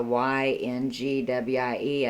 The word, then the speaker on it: Yngwie: I'm pretty sure yeah the one that begins with the y n g w i e I think it's pronounced so I hope I said that right Yngwie Mao steams song